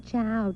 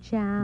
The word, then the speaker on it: ciao: Every time he turned around, someone was saying, "Cow. Ciao." Baby, that wasn't cow. C H O W. It's spelled C I A O. In Italian, it means goodbye.